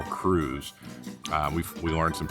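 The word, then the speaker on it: krewe: I guess the word crew is a fancy spelling of it's spelled K R E W we e and it's a fancy spelling of how we spell crew c r e w to sound old school and and mysterious evidently.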